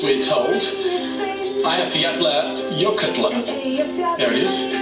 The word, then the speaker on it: Eyjafjallajökull: This is how it should be pronounced, we're told. Eyjafjallajökull. There it is. Eyjafjallajökull. Eyjafjallajökull.